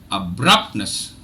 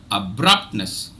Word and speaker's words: abruptness: okay so the general Indian English the standardized pronunciation of this word is abruptness abruptness abruptness now when I uh you know uh